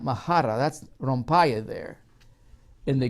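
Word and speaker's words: μάχαιρα: Well, in the Greek, it's spelled this way. Mahara. Mahara.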